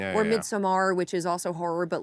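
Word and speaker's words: Midsommar: Or Midsomar, which is also horror, but like bright horror, I would say.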